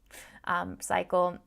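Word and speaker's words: Psycle: It's spelled with P-S-I, Cycle.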